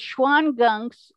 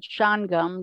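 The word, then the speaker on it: Shawangunks: that but i wasn't sure how you could pronounce that well yeah it's schwann gunks although the native americans said sean gum that was the real name for them and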